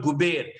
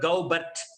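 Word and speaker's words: Goubert: streets still have the French spelling and French pronunciation. This is called Guber, right? Though if you pronounce this in English, I'm sure you will put Gaubat, right?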